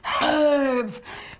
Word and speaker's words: herbs: Well, you're leaving out the H. It has an H at the beginning. It's silent. Herbs. It's silent, just like the word honest, right?